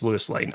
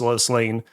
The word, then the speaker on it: Lois Lane: I haven't gone my entire life thinking it's Lewis Lane. I know for a fact that it's Lois Lane, but I'm just going to power through this.